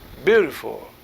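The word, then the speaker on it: Biutiful: tema globalização e capitalismo beautiful a pronúncia É essa mesmo viu também de NH nhu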